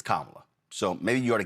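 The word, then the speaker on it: Kamala: First of all, um it's not Camala, it's Kamla. So maybe you ought to get the name right, pronounce the name properly.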